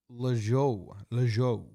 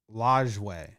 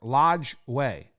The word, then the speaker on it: Lajoie: Stovall, Terry Turner, Nap Lejeau. Nap Lejeau. Full name, Napoleon Lejeau. Damn. Oh, Lajoie, not Lejeau. Lajoie. It's either La Joie or Lodge Way. Those are so wildly different to offer both pronunciations.